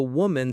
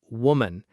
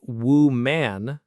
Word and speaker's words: woman: For the woman sitting opposite him. First, woman. Be careful not to say woo man. The first syllable is more like wa.